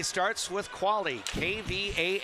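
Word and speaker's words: Quale: Quality starts with quali. KV A L E. Qualally real estate. Little in-game promotion there. Tessa Quali, the goalender for the Buffalo Bison.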